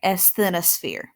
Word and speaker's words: asthenosphere: the crust, is the asthenosphere. And I know that's a big word. I'll say it a little bit slower. It is said exactly like it's spelled. All right, asthenosphere.